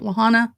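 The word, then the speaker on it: La Junta: Like what came through Camp Lahanta, which is how you say it, Camp Lahana, or everybody does here.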